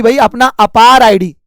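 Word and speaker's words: APAAR: है कि भाई अपना अपार आईडी स्पेलिंग देखो ए P double A आर इसको अपार पढ़ते हैं शॉर्ट में तो अपना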